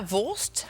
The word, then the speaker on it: Wurst: Ils disent 'worst', comme si j'étais la 'worst' (la pire) au lieu de 'wurst' Et j'ai pensé: Oh, abandonnons ça!